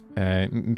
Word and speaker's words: EN: how is am pronounced it's like saying the letters a and n a n I'm right good for